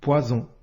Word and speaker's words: poison: prononce ze par exemple poison ici la lettre S se prononce the elle est située entre deux voyelles si tu ne veux